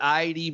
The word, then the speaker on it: Idee: I'm here with Idee Belau again.